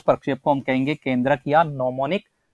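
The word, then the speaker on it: mnemonic: shift करेंगे केंद्रित किया नो मोनिक प्रकाशित जी साइलेंट होता है इसका शब्द प्रणाम सेशन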